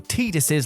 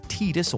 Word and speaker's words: Tidus: There's perhaps no single video game scene more infuriatingly misunderstood than the infamous Tidus or Tidus, depending on how you want to pronounce it, laughing scene from Final Fantasy X.